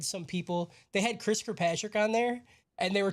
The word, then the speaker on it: Kirkpatrick: He's like, I learned that Chris Kirkpatrick rhymes with "get your ass kicked," and then they played the Eminem song.